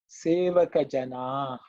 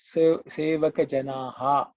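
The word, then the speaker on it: sevaka janaḥ: So here the two words are sevaka jana. That is a visarga. So some people pronounce it as sevaka janaha. Also some people say. I generally don't prefer sounding it loud because it's a visarga.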